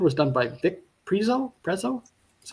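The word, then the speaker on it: Prezio: Preszo, that's how you say his name.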